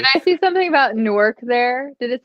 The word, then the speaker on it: Newark: delaware it's newark yeah in delaware it's newark it's spelled it's spelled the same though spelled the same but delawareans will get very upset if you go there and you pronounce it wrong way and then they